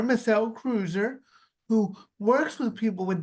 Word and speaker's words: Kreuzer: I say it right it's pronounced Cruiser Cruiser Melle Cruiser who works with people